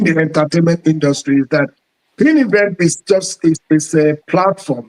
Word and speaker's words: PinEventz: Is it is that the right pronunciation? Is it pin event? It is pin event.